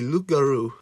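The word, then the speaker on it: loup-garou: Tock next is the lugaroo which I probably say weird because my mind wants me to say Loop but it's French which is stupid so the p is silent so it's good this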